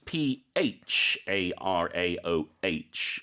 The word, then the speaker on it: pharaoh: here because it's spelled p h a r a o h uh like we say elephant and telephone the pH becomes an F sound so we say pharaoh